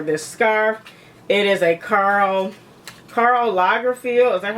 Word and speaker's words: Karl Lagerfeld: It is a Karl Lagerfeld. Is that how you pronounce it? Yes, Karl Lagerfeld.